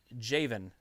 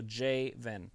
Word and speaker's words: Javen: And then Jevin says, also, it's pronounced Javen. So Javen. Okay, Javen. I was wondering, because there's no O, so it made sense. I just wanted to make sure. And then Jacob, I like hanging out with you, Travis.